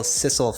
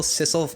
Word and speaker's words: sisal: off to the natural sisal I think it's pronounced sisal Cecil sisal we're gonna go with sisal fibers help with absorption